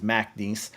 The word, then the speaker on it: McNeese: You got to say it properly. It is McNeese.